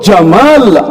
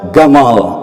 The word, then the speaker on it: Jamal: asli itu beda dengan Mesir Mesir itu bunyi Jin mereka baca G nama presiden mereka dulu Jamal Abdul Nasir mereka menyebutnya Gamal Abdul Nasir panjang itu artinya ganteng